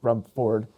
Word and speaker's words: Rumford: I said Rumford because that's the Mainer in me, but it's Rumford. I don't think anyone says Rumford. I say Rumford. Rumford. I don't say Rumford. I say Rumford. You pronounce the R and the D.